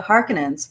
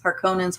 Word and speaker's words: Harkonnen: houses of power and then you have the harkinins harkonnens harkonnens depending on how you say that uh or how you pronounce that they pronounce it differently i imagine